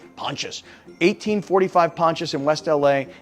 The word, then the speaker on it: Pontius: Avenue in West LA when I say pontious p o n t i s I didn't know how to pronounce it I was like is it Pontius no I had to put it in Google and then Google told me Pontius 1845 Pontius in